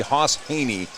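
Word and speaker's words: Hejny: his name's Haas Haney he doesn't spell it that way it's spelled h-e-j-n-y why it looks like hedge knee but it's actually Haas Haney Haney's just a junior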